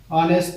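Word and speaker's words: honest: আর একটু বলা হয়েছে যে আমি একটু বলেছিলাম যে অনেস্ট ম্যান, এখানে কিন্তু এইচটা কিন্তু উচ্চারণ হয়নি, এখান থেকে ও থেকে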